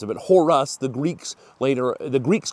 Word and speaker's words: Horus: Now, the Egyptians did not pronounce his name Horus.